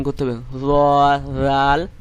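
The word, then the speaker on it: ر: 10 নম্বর আছে র, র, র, এরকম ভাবে উচ্চারণ করবেন র।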